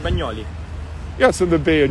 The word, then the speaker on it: Bagnoli: So you have to say Bagnoli. Bagnoli. So I got to work on my pronunciation. Yeah, it's the right pronunciation, Bagnoli.